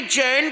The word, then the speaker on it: जिन: वो जिन था। जैन नहीं जैन शब्द तो अंग्रेजों ने लाया है। उन्हें जिन नहीं बोलना आता था। जैन बोलते थे। उनके शब्दों में प्रोनाउंसिएशन की कमी होती थी।